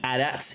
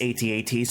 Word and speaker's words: AT-AT: Here we have the Snowspeeder attack on the AT-ATs, AT-ATs, however you choose to pronounce them. I believe both are indeed correct because AT-AT was specifically stated in the Rogue One movie, even though technically those were AT-ACTs.